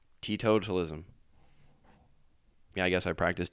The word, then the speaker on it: teetotalism: I was the one adding the syllables in there. Teetotalism.